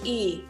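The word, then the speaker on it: 이: Jadilah I, bukan Li. Kalau Li, Lisa misalnya, Li huruf L itu seperti ini. Kayak 2. Huruf 2 angka 2 terus tambah I. Ini baru Li. Tapi untuk marga Korea, Li di sini nggak ada. Adanya I. Oke.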